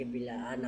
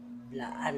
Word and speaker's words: Blaan: Nga dili lagi bilaan ang tinuod nga pag-pronounce ha. Pangalan sa katribo. Blaan na siya. Blaan, dili bilaan.